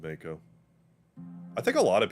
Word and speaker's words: Mako: marco smells pretty bad here i know it's pronounced mako now but i always said mako so i have a bit of a tomato